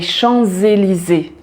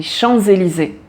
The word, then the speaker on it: Champs-Élysées: voyelle qui suit après on prononce le S ensemble avec la voyelle et il a un son de Z et donc on dit les champs élysé les ChampsÉlysées on prononce tout en